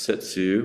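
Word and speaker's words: 接: One pronounced Setsu, one pronounced Shin, means touching the heart-mind.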